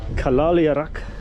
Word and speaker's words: Kalaaliaraq: It's called Kalaaliaraq. I think that's how you pronounce it. Hello, sir. How do you pronounce the name of the market? Is it Kalaaliaraq? Kalaaliaraq, is that right? Yes, sir.